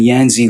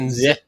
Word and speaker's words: Yanzi: No, it's actually like Yenzi. Yenzi. Yeah, with little stank on zit.